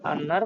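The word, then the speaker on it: أنّ: আন্না হরফে মুসাব্বা বিল ফাইল, আল হাক্কা ইসিম, মুনতাসিরুন আন্নার খাবার, আন্নার ইসিম খবর মিলে আরাফতু ফেলের মাফুল। অতএব যেহেতু এটা মাফুল রূপে ব্যবহার হয়ে আছে, এই জন্য আমরা ইন্না উচ্চারণ না করে এটাকে আন্না উচ্চারণ করব।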